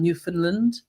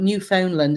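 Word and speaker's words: Newfoundland: So, you can't call it New Foundland. It's New Finland. New Finland. If you pronounce all the letters in there, it means you're a silly Billy.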